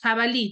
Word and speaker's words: jabalí: Acá tengo palabras agudas jabalí Dónde tiene la mayor fuerza de voz en la última sílaba en la última sílaba